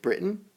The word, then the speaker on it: Britain: It's Great Britain or Great Britain. Great Britain. You don't always say the T. You can say the T. It can be Britain or Britain.